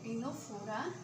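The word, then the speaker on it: Ctenophora: टिनोफोरा में सी silent है, टिनोफोरा don't notice on my hand writing.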